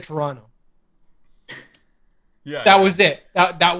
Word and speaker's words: Toronto: There are 2 places. Toronto, as Americans say it, or across the globe, Toronto. Yes. If you're from here, you say it Toronto.